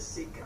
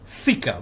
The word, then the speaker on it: thika: Warriors who used spears and a small curved sword called the sika. We need to stop here. He said sword called sika. It is actually not sika, it's thika, but he cannot pronounce that.